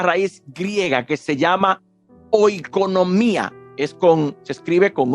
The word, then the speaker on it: oikonomía: La palabra economía procede de una raíz griega que se llama oikonomía. Se escribe con O, I, K de kilómetro, ONOMIA, oikonomía, que significa los administradores de una economía, dispensadores de la familia.